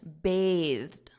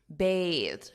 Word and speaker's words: bathed: want to point out notice my pronunciation bathed bathed because the noun is Bath a bath for example I took a bath that's the noun but the verb is bathe I bathe but it's